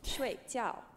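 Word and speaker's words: 睡觉: go down down so and again that you were going to say it as though it's a w so it's sway okay so it's gonna go Shui Tsao perfect Shui Jiao that's how you tell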